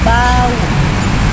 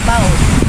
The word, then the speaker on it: bau: sebagai huruf Dion Karena pada saat pengucapannya dia menghasilkan ee dua bunyi yaitu bau bukan baau nah ee contoh kata-kata